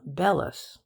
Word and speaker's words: bellows: know a man who calls them bellas which is i believe the professional pronunciation he also talks about